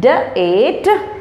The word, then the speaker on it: date: Date. Date. You notice here everywhere in this rule, the sound of E is silent.